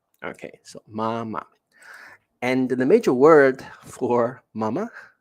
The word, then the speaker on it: 妈妈: For example, mama, right? 弟弟, right? 爸爸. All the time, the second word will be pronounced as the neutral tone. Okay, so mama.